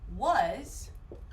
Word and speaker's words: was: In the past, we can say was or were. These are your 2 options. Now the pronunciation of this S, I see S, but the pronunciation is actually a Z.